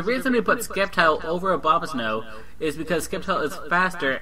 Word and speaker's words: Abomasnow: Abomasnow, not Obamasnow.